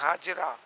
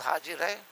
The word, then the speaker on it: حاجر: حضرت حاجرہ علیہ الصلوۃ والسلام سے صحیح تلفظ حاجر ہے، پبلک میں عام طور پر حاجرہ حاجرہ ہے.